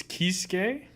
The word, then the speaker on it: Kisuke: Have I been saying it wrong this whole time? Yeah. It's Kisuke. There's no B in there.